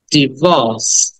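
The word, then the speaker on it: divorce: এটা হচ্ছে আমরা ডিভোর্স বলি, ডাইভোর্স বলি, কিন্তু উচ্চারণ হচ্ছে ডিভোর্স, ডিভোর্স, ডিভোর্স। অটাকে টেনে বলতে হবে, ডিভোর্স, ডিভোর্স, ডিভোর্স। আবার বলো, ডিভোর্স। ওই আরটাকে সাইলেন্ট করে হয়, আরটাকে উচ্চারণ করা হচ্ছে না ব্রিটিশ অ্যাকসেন্ট অনুযায়ী, ডিভোর্স, ডিভোর্স।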